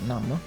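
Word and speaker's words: GNOME: Gnom e praticamente se in realtà si pronuncia Nam, ma vabbè, eh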